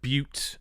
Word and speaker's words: Butte: to is called Butte is it Butte Canyon but it's spelled b-u-t-t-e so it's but and it's coming up on the screen but Canyon every time but they're calling it Butte if that makes sense there's no it's not